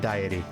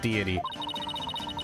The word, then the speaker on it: deity: the Kingdom's people worship her as a guardian diet deity fine I'll say it right deity they believe she appears to protect the kingdom